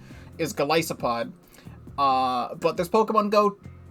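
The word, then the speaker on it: Golisopod: it's called glycopod I used to call it galicipod but apparently in the official pronunciation is glycipod uh but this Pokemon go themed cards and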